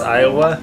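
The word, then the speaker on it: aeiowu: developed by developer Iowa I think that's how it's pronounced it looks like an abomination of a name I'm sorry lay e hi o w you is that how it sprouts Iowa yeah they spelled it phonetically oh so um and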